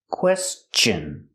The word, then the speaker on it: question: have a question remember the word question has a t n after s so t n is pronounced chin with the chicken sound question if you ever have